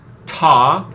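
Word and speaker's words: Ptah: have been pronounced yep da what but it's only so written as tall so most people say ta p-t-a-h ta I think it's probably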